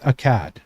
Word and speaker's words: Akad: Ah now if you remember Akad that's a k a d in my mind ak a d is how it's spelled and akad is the name of the ruler of the city who okay he is the brother he's the older brother is not meeting a cat.